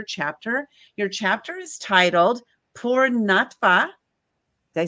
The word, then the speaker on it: Poornatva: Your chapter is titled Poornatva.